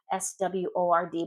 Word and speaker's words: sword: Sword has a silent W in it. It's spelled sword. S w o r d, but it's sword. The w is always silent in English.